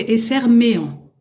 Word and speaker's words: Esserméant: Donc, Esserméan, hein, c'est bien comme ça que ça se prononce. Alors exactement, c'est Esserméan. Esserméan, ah ouais, ah oui, c'est vrai, il y a Éan. Et oui, Éan.